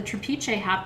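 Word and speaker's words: trapiche: okay so i want to go through what trapeze amethyst is not all trapeze and i want to spell it for you t-r-a-p-i-c-h-e t-r-a-p like trap and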